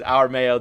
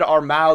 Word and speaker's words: Armao: take it and then this is our mayo they're just uh showing you how to pronounce his name because obviously everyone's been pronouncing it wrong i said armao the first time i saw it i wasn't trying